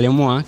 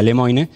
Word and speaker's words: Lemoine: lemoine Más allá de los chistes de Lil lemoa que que son recurrentes no se pronuncia así se pronuncia lemoine porque es de no no está perfecto porque